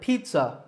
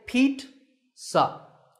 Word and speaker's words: pizza: you correct the mistake say Pete sup it's not pizza and it's not pizza it's Pete and sup so Pizza Hut Domino's